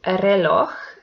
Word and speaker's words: reloj: The last example is reloj, and it belongs to agudas because the last syllable is the stressed one.